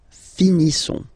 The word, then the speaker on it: finissons: Nous finissons. Okay, issons. Issons. Nous finissons. Finissons. Okay, final s not pronounced.